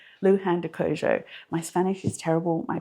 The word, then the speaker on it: Luján de Cuyo: is, let me just double check how to pronounce that, Luján de Cuyo. Luján de Cuyo.